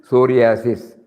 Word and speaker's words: psoriasis: In certain case, P is silent, psoriasis, P silent.